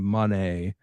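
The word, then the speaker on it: Moné: Um but she kept saying Monet in the pronunciation of her saying her own name in that first theme song.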